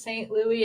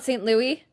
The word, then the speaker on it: St. Louis: I think we are, because the next weekend is St. Louis in Canada. I'm sorry, did you just call it St. Louis? It's St. Louis.